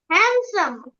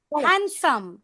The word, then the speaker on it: handsome: একটা স্ট্রেস দিব sandwich don't pronounce this d sandwich okay Rajiv Sharma handsome.